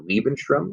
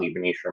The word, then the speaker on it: Lebensraum: He then also annexes the Sudetenland and all of Czechoslovakia for Lebensraum, I believe is how you say it. It means living space. Hitler is going to talk about Lebensraum or living space so often, basically saying that